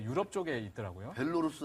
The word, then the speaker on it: 벨라루스: 벨로루스 아니면 벨라루스? 벨라루스. 벨라루스죠. 네, 벨라루스. 예. 벨라루스. 네. 벨라루스. 이게 발음이 좀 어려운데 그 MOU를 맺었는데 그곳의 농장에서 이게 젖소들 분뇨가 나오는데요.